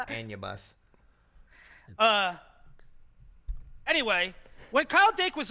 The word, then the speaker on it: Anubis: correcting somebody on how to pronounce a word again. Oh my gosh, Anubis. Here we go. It's Anubis.